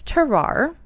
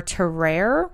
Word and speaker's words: Tarrare: I believe it's Tarare, Okay. but I also have heard Tarare or Terrare. Terrare. But I'm going to try and stick with Tarare.